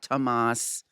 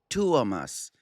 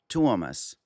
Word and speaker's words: Tuomas: It's not Tuomas, it's not Tomas, it's Tuomas. Just like if you see the word duo, d u o, duo. This is t u o, Tuo. Tuomas.